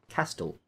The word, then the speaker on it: castle: No, there's no R in the word castle. You nearly made me say castle. It technically should be pronounced castle. But apparently the T is silent.